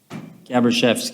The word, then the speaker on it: Gabriel: apologize for mispronouncing that tell me how to pronounce your name sir gabriel okay thank you all right so i have